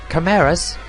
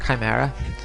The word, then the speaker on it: chimera: like a falcon wow camaras or chimera however you want to pronounce it i think it's meant to be pronounced chimera is again on theme